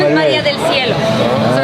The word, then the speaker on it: cielo: I used to have Italian teachers in elementary school, and they would call me Maria del Cielo. And like, you know, I understood that's how you pronounce it in Italian and everything, but I was like, guys, I'm not a cello.